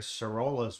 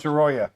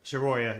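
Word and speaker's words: Sorolla: before that you admire Sorola's work. What? Soroya. Soroya, yeah, it's two Yep. L's. That's what threw me. I know who That's all right. Soroya is.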